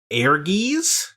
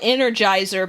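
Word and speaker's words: Ehrgeiz: on ps1 together but we never said the name right i think we used to call it energizer because we could not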